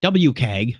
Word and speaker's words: WCAG: We are, as of Jakarta, WCAG, WCAG, believe is how they say it.